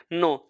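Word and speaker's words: know: इसको हम बोलते हैं नो इसको बोलते हैं नो जिसका अर्थ यह लिया जाता है जानना जिसका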